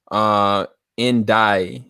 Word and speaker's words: Einaudi: I don't know if I'm gonna pronounce his name right, but it's Ludwiko Indai. That's Einaudi.